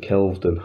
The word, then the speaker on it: Kelvedon: So I missed a weekender that they did at, see, I pronounce it Kelvedden, because that's how it's written. But they called it, well, other people, everyone I know basically, calls it Kelvedon Hatch nuclear bunker down in Essex.